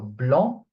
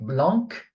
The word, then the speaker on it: blanc: So bl not blanc. Okay. Or bl the c is not pronounced.